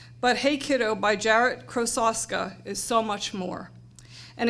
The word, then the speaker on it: Krosoczka: Jarrett from now on because krosoczka is is a mouthful but I do look it up and that is how you say it as far as I can tell so anyway so Terry